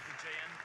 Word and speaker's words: Vijayant: This is the pronunciation of my name, Vijayant. Vijayant? Yeah. Vijayant? Yeah.